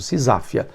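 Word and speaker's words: seisachtheia: lei, uma medida que ficou conhecido como SISafia. Sisafia. Você tá vendo aí na tela como é que se escreve essa palavra estranha, mas a pronúncia é essa mesmo, Sisáfia.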